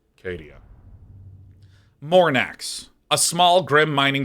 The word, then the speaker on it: Cadia: Long A is correct. Oh, you're all so sweet. It's pronounced Cadia.